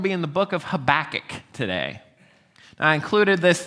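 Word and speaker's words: Habakkuk: Uh so Habach, most people either say Habach or they say Habacook.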